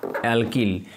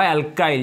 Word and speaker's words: alkyl: Group কি বলা হয় অ্যালকিল বা অ্যালকাইল যে যেমন ভাবে একে উচ্চারণটা করে আর কি অ্যালকেন যদি একটা হাইড্রোজেন বেরিয়ে যায় তাহলে তাকে আমরা বলবো অ্যালকাইল বা অ্যালকিল গ্রুপ।